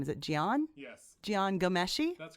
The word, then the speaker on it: Jian Ghomeshi: to say his name is it Jian yes Jian Ghomeshi that's correct then I do know how to